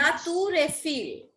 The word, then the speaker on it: La Tour Eiffel: Tell the pronunciation again of Eiffel Tower in French. Of Musée d'Orsay. Ma'am, Eiffel Tower. in French. La Tour Eiffel.